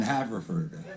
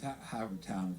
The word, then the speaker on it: Havertown: the Kelly Center in Haverford. It's really great. I like coming here. I mean, I know I mispronounce it. It's Havertown, you know.